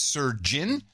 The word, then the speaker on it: Sir Jin: Henceforth, please pronounce-ticate me as Sir Jin. Pronounce surgeon, as in surgeon.